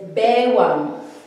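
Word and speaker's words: baywang: The waist is bewang. We spell it like this. It's baiwang, the formal spelling, but when we say it, or even when we write it like it's bewang.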